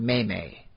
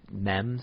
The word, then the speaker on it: meme: The first thing to do is force everyone to pronounce it May. That's how evil they are. Did you hear Nathan Fillion on Conan a while ago? He said memes, I think he called them. You know what? He was going to end up being a teacher for the rest of his life, so I will take his word on it, but I'm still going to pronounce it meme.